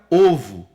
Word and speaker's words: ovo: dúzia de ovos não a palavra ovo no singular tem esta pronúncia é como se nós tivéssemos nas duas letras o o circunflexo o som é fechado ovo no singular agora